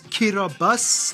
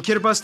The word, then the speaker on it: Kiribati: The alphabet only has 13 letters and no S's, so they substitute the S with a T-I for some reason, hence Kiribati.